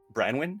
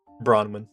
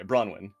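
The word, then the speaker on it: Branwen: To your right is Crow Branwyn? Is that how you say it? Bronwyn, long A. Bronwyn? Okay, Bronwyn. One of the most skilled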